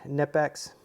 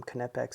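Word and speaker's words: Knipex: is the Raptor by nipex um some I guess you pronounce them kpex sometimes uh here you've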